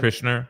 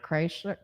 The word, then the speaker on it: Kreischer: Krishner. Kreischer.